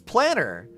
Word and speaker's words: Planar: Plain Arcadia? Oh, you're right. They do say Plain Arcadia. What the fuck? It's Planar. Planar Arcadia. Because the planar ornaments.